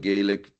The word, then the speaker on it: Gaelic: We really have to thank, first of all, the Scottish Gaelic, Gaelic, both pronunciations are fine, periodical MacDonald, Echo, which ran from 1892 to 1904 in Sydney, Cape Breton.